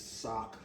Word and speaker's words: Sauk: This is Sauk Village. Oh, you call S-A-U-K.